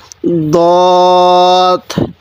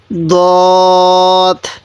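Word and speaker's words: ضاد: আমরা এরকম একই করব না, দোনোটা হরফের উচ্চারণের মধ্যে অনেকটা ডিফারেন্স আছে। তাহলে সৎ। কীভাবে পড়ব? সৎ। এরপরে এই হরফটির নাম দত। এই হরফটির নাম দত।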